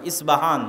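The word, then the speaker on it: Isfahan: আমরা প উচ্চারণ করি ইস্পাহান, আরবিতে এটা উচ্চারণ হয় না, আরবিতে হয় আল আসবাহানি, বা উচ্চারণ হয় ইসবাহান বা আসবাহানি।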